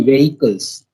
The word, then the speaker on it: vehicles: it comes to pronunciation it should be vehicles vehicles vehicles hedges h is little silent silent here vehicles vehicles okay and